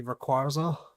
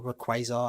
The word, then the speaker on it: Rayquaza: If I had to pick a favorite legendary though, it' be Rayquaza or Rayquazar, however you want to pronounce it.